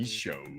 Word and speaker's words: Misho: I've been Misho. I've been told by the production staff that that's what they are pronounced.